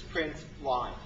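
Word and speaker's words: println: print and this is print Line Print Ln usually pronounce print line so it turns out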